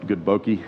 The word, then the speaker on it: bokeh: So people talk about good bokeh, is that how you pronounce it? Yeah, good bokeh.